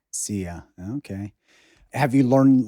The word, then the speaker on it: szia: but it's spelled like SZIA. SZIA. And you pronounce it like Zia? Yeah, like see ya. Zia.